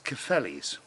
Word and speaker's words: Cefnllys: Now it's spelt a very strange way to some people, I guess. But from the Welsh quadrant, it's actually a perfectly good spelling. It's Cefnllys.